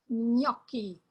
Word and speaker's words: gnocchi: Another group of consonants is the nye, as in canyon, canyon. A little more than that, or mañana, the Spanish mañana. Ignoto, ignoto. Agnello. And now food, agnolotti. Gnocchi, un piatto di gnocchi.